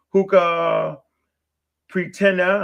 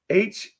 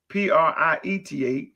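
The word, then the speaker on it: Huaca Prieta: You got Hookah Pretena, and I know I'm mispronouncing it. That's Hakka. That's H-U Hukacha, Huaca. Then you got Prithia, that's Prithia, Prieta, that's in South America.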